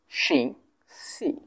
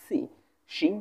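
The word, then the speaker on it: 星期: সো এখানে খুব সহজ দুটো টোনেই কিন্তু ফার্স্ট টোন ঠিক আছে তো তাহলে এটা উচ্চারণ আমরা কেমন করে করব সিং সি সিং সি সিং সি মানে হচ্ছে সপ্তাহ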